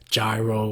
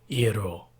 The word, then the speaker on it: gyro: gonna be cooking util you often hear a pronounced as gyro or Jarrell but the correct way to say it is e at all those of us who've